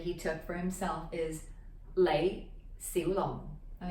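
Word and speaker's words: 李小龍: took for himself is lei si long all right so the light low rising mid rising long down at the bottom there low falling long which means dragon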